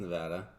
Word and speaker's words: Nevada: It's pronounced Nevada. Is it? Yeah. Yeah. Nevada. I said Nevada originally.